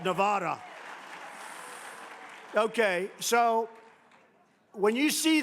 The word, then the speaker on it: Nevada: And they don't know how to say Nevada. They don't know how to say it. She called it Nevada.